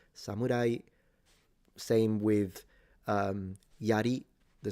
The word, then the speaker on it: samurai: Samurai is a rising pitch. Samurai, same with um yari the spear or yumi the bow.